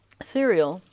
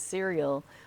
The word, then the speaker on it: Ciriel: breads and pastries, and her name is Cereal, but it might be pronounced Curiel. But either way, it's written Ciriel, so you would probably pronounce it cereal.